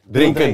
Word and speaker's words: drinken: bahasa Belandanya apa coach sama kayak Inggris cuman bacanya beda drink drink drinken drinken drinken drinkenink drinken